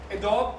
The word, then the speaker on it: Adobe: name है इ कॉ इसे आप दो तरह से प्रोनाउंस करते हैं एडब और एडोबी दोनों तरह